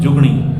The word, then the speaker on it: جگنی: وہ جگنی بھی ہے۔ اور جگنی کا جو پنجابی میں تلفظ ہے وہ جگنی نہیں بلکہ جگنی ہے، جگنی اصل تلفظ۔ جیسے ہم پانی کو پانی کہتے ہیں، مکھن کو مکھن کہتے ہیں، اسی طرح یہ جو لفظ ہے یہ جگنی ہے۔ اور یہ جو زیور